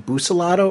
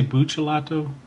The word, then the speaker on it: Buccellato: Yeah, and I would say Buccellato, just because a lot of times I think Boos is more of like an American pronunciation. So if you're going to go old school, it would be, Booch. But that's just my 2 cents.